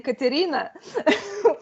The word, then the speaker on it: Karina: actually curious to you you pronounced my name the right Russian name Karina which very very awesome